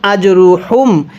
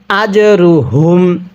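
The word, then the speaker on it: أجرهم: আজরুহুম পড়ুন ফালাহুম আজরুহুম অনেকেই হাগুলো উচ্চারণ করার সময় ফালাহুম আজরুহুম এরকম ভাবে পড়ি অর্থাৎ হাগুলো উচ্চারণ করার সময় গলার মধ্যে বাতাস বের করে পড়ি এরকম ভাবে পড়লে এই হাটা পড়া সহি শুদ্ধ হবে না কিভাবে পড়তে হবে ফালাহুম হাটা উচ্চারণের সময় গলার মধ্যে আওয়াজ করতে হবে আজরুহুম এরপরে রব্বিহিম পড়ুনবিহিম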